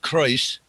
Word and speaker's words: Croes: CROES is Kreuz.